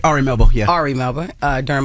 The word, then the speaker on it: Ari Melber: with RI melbour am I saying it right Ari melber yeah Ari melbour uh during Miami art week